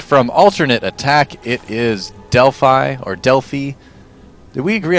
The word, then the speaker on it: Delphi: know because I I've heard from a lot of people that it's that it's dely a lot of people it's from Deli and there's an ancient Green City exactly Deli would be the proper pronunciation if we're talking about the Greek pronunciation I believe right so I'm I would be inclined to call him deli dely to me sounds like a bad American mispronunciation of it frankly so let's go with